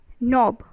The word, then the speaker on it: knob: d c number nope knob okay n o b the pronunciation is n o b but the spanning is k and ob that means your k is silent isn't it are you